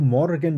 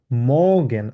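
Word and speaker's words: Morgen: করে সেভাবে উচ্চারণ করুন জার্মানরা উচ্চারণ করে হচ্ছে মগ্ঞান আর টা কিন্তু এখানে উজ্জ্ব থাকে আর এর উচ্চারণটা কিন্তু এরা বলে না আমরা ইংলিশ যখন শিখেছিলাম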